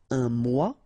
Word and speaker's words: mois: Un mois, and then moi, me. Okay, so un mois and moi. Un mur.